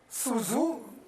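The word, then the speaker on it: Sun Tzu: Su Zhu, it is spelled S-U-N, Su, T-Z-U, Zhu.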